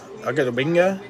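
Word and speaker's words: Odighizuwa: Osa, Agadobinga, Sam Ellinger, orange. That's the official pronunciation of Osa's name.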